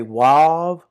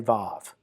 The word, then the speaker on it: vav: So the next letter is some will say wav or some will say vav.